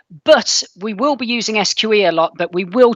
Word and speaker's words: SQE: examination or for short the sqe some people pronounce it the squee we're a serious regulator though so we're not that fun we pronounce it the sqe and whenever i do sessions on the sqe